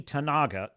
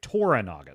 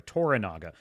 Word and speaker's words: Toranaga: sonata's uh Lord Yoshi tanaga t let me make sure I'm pronouncing it right toranaga sorry toranaga Lord toranaga has been